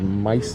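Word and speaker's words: Maisto: brand on this is called mice though i guess i'm pronouncing that correctly m-a-i-s-t-o but yeah if you find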